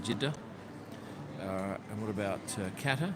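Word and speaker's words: Jeddah: night as does jida and that's how you pronounce it jida uh and what about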